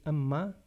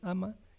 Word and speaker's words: Amma: A mi maestra, Amma, a veces pronunciamos mal su nombre, es Amma, decimos Amma, y eso significa tortuga.